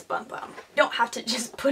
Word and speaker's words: Bum Bum: is kind of funny supposedly you're supposed to pronounce it boom boom I think I read that somewhere but let's be honest like that's bum bum don't have to just